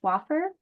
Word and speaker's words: Swaffar: the beginning of the session um it is pronounced swaffer not sfer is that correct wonderful um thank you both